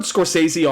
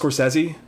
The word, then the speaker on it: Scorsese: Is it Scorsesei or how how is that pronounced? So, I've heard I heard Scorsesei all my life. I've heard in the last couple years it's actually pronounced Scorsesi.